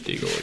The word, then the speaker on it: Deagle: Did you know that Deagle rhymes with evil?